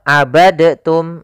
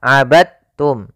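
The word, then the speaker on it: عَبَدْتُمْ: dalam membacanya eh maaf hati-hati jangan dibaca abadtum ya tapi langsung dimasukkan ke ta abadum bukan abadtum ya Meskipun Dal termasuk huruf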